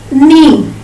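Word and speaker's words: neigh: What is the sound of horse? That is knee. That is knee. N-E-I-G-H. N-E-I-G-H.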